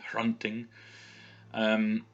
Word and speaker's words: Hrunting: Beerbrand's sword is Hrunting, so you've got that H there sound at the beginning, Hrunting.